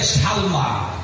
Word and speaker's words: সালমা: আবু বকরের নাম হচ্ছে মায়ের নাম হল হযরতে সালমা জোরে বলেন নাম কির নাম জবর সাল মিম খারা জবর মা। কিরে উচ্চারণ?